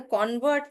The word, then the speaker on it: convert: Did anyone notice that when I was saying convert as the noun, because the stress is on con, I was pronouncing it as con. However, when I was pronouncing the verb, I was saying con. Convert, convert. Convert because I'm stressing on con, but when I'm stressing on vert, I'm saying convert.